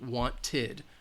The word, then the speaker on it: wanted: row so for example want ends with a T so the T sound so we're going to have it's going to have that it wanted we can't have the